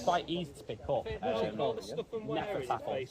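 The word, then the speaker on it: Hnefatafl: Nefertafel. It's spelled with a H at the beginning.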